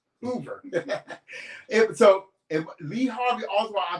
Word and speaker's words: Hoover: be pronouncing that wrong Hoover not hoer Hoover so Lee Harvey also